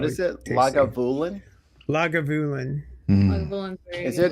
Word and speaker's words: Lagavulin: Lagavulin. I'm just one word. Fucking Lagavulin crazy. is my favorite scotch. I adore it. It's What really is it? tasty. Lagavulin? Lagavulin.